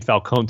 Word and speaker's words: Falcone: I'm hearing the name Falcone too much on Gotham, like forgetting to pronounce it the right way, which is Falcone.